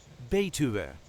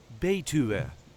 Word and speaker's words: Betuwe: region, see how to pronounce in a regular Dutch accent Betuwe. A region in the Netherlands. This is the way we say Betuwe.